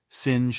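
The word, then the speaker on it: singe: in the same way he was taught to pronounce ape sin and tree arbre he was a most eager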